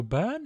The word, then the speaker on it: Byrne: Kyle Byrne, is it? Well, I think it's Burn it's pronounced, isn't it?